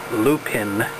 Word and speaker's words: lupin: here and that's now been uh planted with Lupin I looked it up that's how you pronounce it uh hopefully you can see the